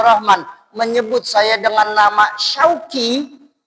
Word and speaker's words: Syauqi: Pun ketika tadi orang tua saya Ustadz Fathur Rahman menyebut saya dengan nama Syauqi, bener shin tapi belakangnya kaf, sudah beda arti lagi.